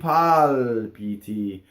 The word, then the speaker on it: palpiti: I palpiti. Notice that the L doubled. It follows the same principle as the N's. It goes into a consonant and you hold it in phonation. Palpiti. And look at where it is.